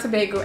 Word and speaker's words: Tobago: Tobago, Trinidad and Tobago. Emphasis on Tobago.